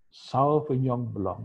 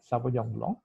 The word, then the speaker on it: Sauvignon Blanc: Sauvignon Blanc. Jadi agak monyong menurut kita ngomong, ya. Sauvignon Blanc.